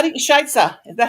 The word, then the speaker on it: Scheiße: How do you, Scheisse? Is that how you say it, Rosie? Scheiße. Scheisse? Scheisse or Scheisse? Scheiße.